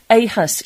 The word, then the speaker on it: aHUS: Well, let's speak to Len Woodward, who's originally from Morriston in Swansea and is a founding trustee of the patient support group aHUS UK, a rare disease that affects people's immune system.